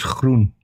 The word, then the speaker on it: Groen: That's not correct, Jackson. It's groen.